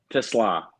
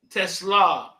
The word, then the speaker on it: Teslaa: my Instagram is isaac.tesla is how do you pronounce it Tesla Tesla what what is it what's your background where